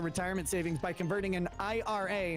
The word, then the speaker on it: IRA: Birch gold / Rumble please announce Ira as initials IRA and 401K should pre